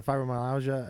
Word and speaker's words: fibromyalgia: Um, if for those that are joining us, we're we're talking to Ally about uh fibromyalgia.